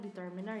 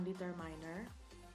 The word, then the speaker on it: determiner: Oh ya, ini bacanya determiner ya, bukan determiner. Determine, bukan determine. Kemudian yang terakhir ada interjection.